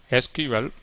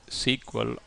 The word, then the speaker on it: SQL: see the topic SQL SQL pronounced either SQL or SQL is an astonishingly capable